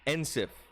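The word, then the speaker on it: Encief: yeah and seth yeah what's his name ansef spell it for me e-n-c-i-e-f nsif and seth yep is that his real name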